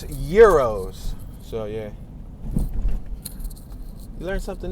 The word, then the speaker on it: gyros: I would say gyro. But little did I know, after hearing the radio station a few days ago, I noticed that they say Euros, that the G is silent.